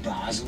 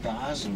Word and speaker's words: Basel: Baal is the French pronunciation and Basel the German. We tend to call it Basel over this side of the river, you see.